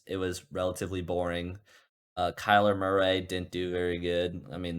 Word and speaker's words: Murray: Well, Kyler Murray, right? That's his last name. That's how you pronounce it.